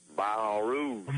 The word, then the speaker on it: Baton Rouge: Well, I had some family that lived down in now I'm going to pronounce it right, down in Baton Rouge. Baton Rouge. Baton Rouge. It's not Baton Rouge at Baton Rouge. Sir. Not the Baton Rouge.